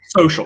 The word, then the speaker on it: social: pronounce social yeah so social social social yes it's maybe that shh sound in the middle there that's uh tricky social yes okay um